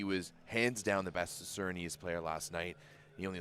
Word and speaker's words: Surinamese: The word is Surinamese. Surinamese. Surinamese. Okay. So we'll get the person who like gave me the phonetic spelling in the YouTube chat yesterday was wrong, because there was only 3 syllables in that one.